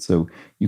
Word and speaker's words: Seuss: of totter around and author who originally intended his pen name to rhyme with voice though Americans pronounce it differently oh that's funny I didn't know this it must be Dr so Dr soy wow that's yeah wow